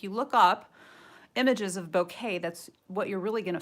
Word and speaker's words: bokeh: we're gonna work on a little bit of bouquet that's how you pronounce it and bouquet from my understanding is